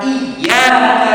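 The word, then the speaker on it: إِيَّاكَ: Iyaka dibaca ada tasdidnya. Tapi kalau kemudian dibaca tanpa tasdid menjadi iyaka na'budu wa iyaka nastain yang terlalu betul. Kenapa? Iya itu artinya syamsi cahaya matahari. Sehingga kalau dipaksakan terjemahan iyaka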